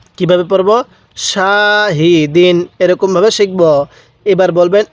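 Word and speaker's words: شاهدين: শা হা জের হি দাল দুই জের দিন শাহিদিন কিভাবে পড়বো শাহিদিন এরকম ভাবে শিখবো এবার বলবেন এই হরফ এর উচ্চারণগুলো আমরা কিভাবে পড়বো হ্যাঁ আইন আলিফ জবর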